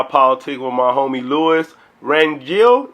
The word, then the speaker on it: Rangel: with my homie Lewis ran guild is how you say your last name makes you seem right oh man it's fine it's good it's good how you said Rangel yeah Randy Rangel I